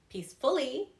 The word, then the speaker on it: peacefully: Peacefully. Violently. Again, it's on the first syllable. I don't say peacefully, okay? I say peacefully.